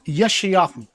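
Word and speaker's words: יְשַׁעְיָהוּ: Now, his actual name is pronounced Yeshayahu. That's the Hebrew pronunciation of it.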